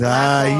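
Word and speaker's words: ลาก่อน: No, it's lock on. You said hi. That's hi, Bri. Lock Oh, on. yeah. Lock on.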